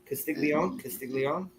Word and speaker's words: Castiglione: From Castiglione. Castiglione. I thought it was Castiglione. Castiglione. Yeah, the G's not pronounced. It's like okay.